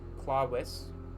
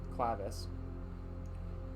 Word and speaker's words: clavis: Clawis as the uh proper pronunciation or clavis.